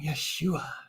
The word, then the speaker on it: Yeshua: Yeshua is the Hebrew pronunciation of Jesus.